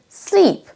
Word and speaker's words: sleep: Le son I long est légèrement plus long et on traîne un tout petit peu sur la syllabe. Donc entre slip, glisser et sleep, il y a un tout petit peu de longueur en plus.